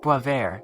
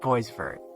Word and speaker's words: Boisvert: Oh, and by the way, it's pronounced Boisvert, not Boisvert, at least I think.